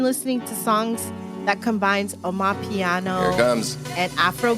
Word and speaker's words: Amapiano: It's called Omopiano Mix, Omopiano. But the actual genre name is spelled Amapiono. Sounds like oh no, piano.